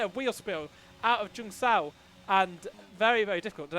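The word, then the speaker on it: Junção: He just gets a bit of wheel spill out of Jung Sao, and very, very difficult.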